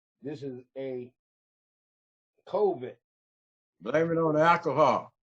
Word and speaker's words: COVID: A Covert 19, no, not Covert. That's what I be mispronouncing this disease as. This is a COVID.